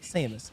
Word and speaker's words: Samus: Sora and Jessica along with popular opinion is pronounced Samus so that is the character's name amazing and